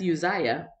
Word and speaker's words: Uzziah: pronounce a name but now I'm not gonna mispronounce it as I'm reading it along so that's Uzziah um I used to do that when I